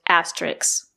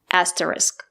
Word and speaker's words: asterisk: The word is not pronounced asterisk. There is no letter X at the end of the word. The two letters S and K make the sound, not S. The word is pronounced asterisk, not asterisk.